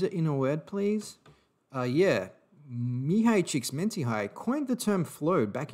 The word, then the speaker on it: Mihaly Csikszentmihalyi: Now, the flow state was initially coined by Mihaly Csikszentmihalyi back in 1975. And I'm pretty happy with that pronunciation, I have to say, because if you're